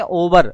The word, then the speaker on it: hover: और माउस का पॉइंटर किसी के ऊपर अगर हम ले जा रहे हैं तो उसे कहते हैं ओवर, HOVER, H साइलेंट होता है।